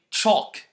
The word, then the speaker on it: chalk: to the letter L we don't pronounce the L when it comes after o or a and before another consonant like f or okay like